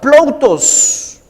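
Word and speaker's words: πλοῦτος: la riqueza es la palabra 4149 que se pronuncia plutos que su significado en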